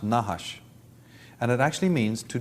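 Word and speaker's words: נחש: regards to the gods the word in semitic for serpent is nahash of course they didn't use vowels so it's just n-h-s-h but that is pronounced nahash and it actually means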